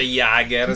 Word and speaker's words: Jaeger: Si dice Jager, si Vabbè, perché a me piace dice Iga, no?